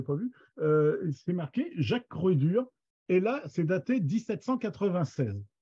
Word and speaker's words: Croédur: Lui, il écrit Croix-Dur, mais ça ne veut rien dire au niveau de prononciation, c'est Croix-Dur. À cette époque-là, les OI, ça se prononce E, OE. C'est comme ça depuis Molière. Hein. Molière, c'était pareil.